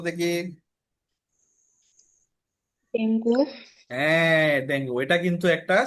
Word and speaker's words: ডেঙ্গু: ঠিক আছে, এটারে অনেকেই বলে ডেঙ্গু, আসলে এটার উচ্চারণ হচ্ছে কি জানো? এটার উচ্চারণ কি? ডেঙ্গি। ডেঙ্গু। ডেঙ্গি।